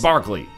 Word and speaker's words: Barkley: Is it like spelled like Berkeley but with an A? Okay, Charles Barkley is number 4.